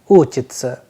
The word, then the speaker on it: учиться: the and soft sign, whereas in the second verb it is ending with sa and ya, that is why the pronunciation is uchitsa.